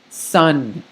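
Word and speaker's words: سً: So if we add the S sound plus the UN sound of the Double Fatah, we get sun, right? Like the English word sun. That's exactly how you say it. Sun.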